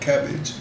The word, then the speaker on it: CABG: as corned beef and cabbage. But there's another cabbage, pronounced the same way but spelled differently.